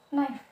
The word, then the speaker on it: knife: K-nya tidak diucapkan. Kemudian knife atau pisau, ya.